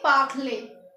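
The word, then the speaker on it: parlé: यहाँ पर भी आपको ई पे लगा हुआ है और इसे प्रोनाउंस करेंगे पाखले।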